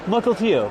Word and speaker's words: Mukilteo: Mukilteo.